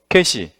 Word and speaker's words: 계시: 계시. 아니 뭐 잘할 필요 없고 얘 뭐라고 읽어요? 그냥 계시 얘는 얘는 좀 장음으로 발음하셔야 돼. 좀 길게 계시 예요. 요요 어이계는 계시 얘는 단음 개시.